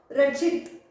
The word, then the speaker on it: रचित: अभी यहाँ पर ये शब्द का उच्चारण करके देखो, रचित, रचित। ची तुरंत बोला जा रहा है, ची तुरंत बोला जा रहा है, कैसे, रचित।